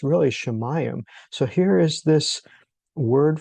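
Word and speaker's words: שָׁמַיִם: So here is Hamayam which uh the heavens is pronounced Shamayam and then he divides the waters from the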